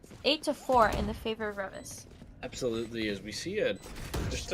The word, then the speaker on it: Reavis: As I say their name wrong, is it Reavis? Did I say it right? Yeah, Reavis. Reavis.